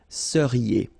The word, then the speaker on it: seriez: So here when you've got this EZ at the end, then you get the sound E, seriez. So vous seriez, okay?